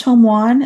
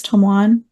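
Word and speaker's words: Tome-wan: um I think it's Toman is how you say it it's t m-w an I think it's Toman yeah that sounds right um it aired May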